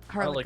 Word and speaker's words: Harlacher: Harlicker. Harlicker. Mm-hmm. Thanks for the help on the pronunciation.